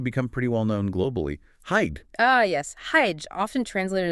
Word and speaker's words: hygge: For a word that's actually become pretty well known globally, hide. Ah, yes. Hide, often translated as just cozy, but I always suspect there's more to it. You're absolutely right. Hide, pronounced roughly, hygge, is so much more than just cozy.